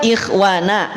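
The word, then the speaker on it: إخوانا: tipis atau tebal nah terdengarnya lebih tipis Betul tidak dibaca Ikh Ik Ikh Ikh tapi Ik Ikh Ikh yang dimaksud di sini adalah dia tetap tafkhim tapi perhatikan pelan-pelan karena didahului oleh huruf kasrah maka ko ini termasuk sifatnya adalah tafkhim nisbi tulis tafkhim nisbi termasuk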